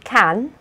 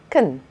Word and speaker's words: can: Sometimes the A in can is pronounced with a schwa instead. So instead of can, we say can.